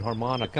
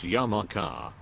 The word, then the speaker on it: yarmulke: How did you play tennis with that harmonica on your head? Doesn't it fall off sometimes? Young man, it's pronounced yarmulke, not harmonica.